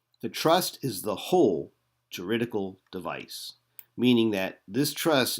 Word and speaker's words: juridical: Juridical means within the legal sense.